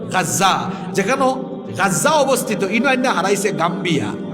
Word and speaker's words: গাজা: হারাইছে যেখানে বর্তমান ফিলিস্তিনের গাজ্জা আপনারা তো গাজা আরবি উচ্চারণ হইল গাজ্জা যেখানে গাজ্জা অবস্থিত হারাইছে